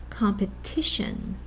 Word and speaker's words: competition: Competition. With the TION words, the stress goes penultimately. Penultimate means right before the last syllable, which is very common, which is the rule for TION words and for a lot of nouns, in fact.